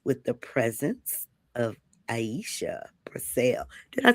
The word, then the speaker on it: Brassell: tonight or this evening, we are graced with the presence of Iesha Brassell.